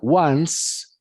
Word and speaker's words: once: escribe como decir 11 se pronuncia ones no se pronuncia y la c es una s significa una vez que